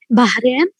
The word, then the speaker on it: Bahrain: How do native speakers of English pronounce the word Bahrain? Bahrain. Like they pronounce they say Bahrain. Bahrain. Bahrain. Bahrain. Without the ha is silent, so they don't pronounce the ha.